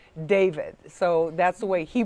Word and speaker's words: D4vd: And it's spelled D, the number 4, D4vd, but it is pronounced David.